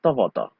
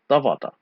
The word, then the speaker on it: tavata: Ta, va, ta. Actually, it's ta with a glottal stop at the end.